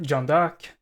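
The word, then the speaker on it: Jeanne d'Arc: or as I prefer to refer to her jandak the French pronunciation is uh one of course one of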